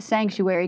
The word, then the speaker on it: Psanctuary: an overview of P Sanctuary because this is not your average ordinary church. No, it's definitely not. Um, so first the P is silent.